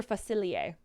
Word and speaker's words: Facilier: The missing word was pronounce. It's Dr. Facilier.